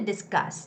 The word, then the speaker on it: discuss: today we're here to discuss discuss as a second syllable stress to reopen the reopening